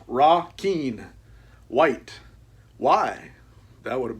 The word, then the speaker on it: Requin: Requin, pronounced Ra-Keen.